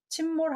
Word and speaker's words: 침몰: 까요 답은 내친 물입니다 심자 로 보실 수도 있는데요 깊을 심자 의 발음이 있긴 있습니다 이제 가라 앉 제 침 성 cc 말 댄스 니까요 빠질 마을에서 침몰 하다 뭐 세월호 침몰 많이 들어보셨죠 진짜입니다 심 발음 있긴 있어요 자 이거 한번 읽어볼까요